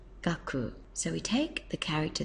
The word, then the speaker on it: 学: gives us the character for Learning and it's pronounced gaku so we take the character there which is pronounced gaku and means learning there it is here and